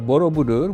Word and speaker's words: Borobudur: So, uh Borobudur, which you pronounced very well, uh not only that you